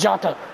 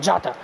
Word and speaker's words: Jota: It's Jota. That's how you say it. Jota.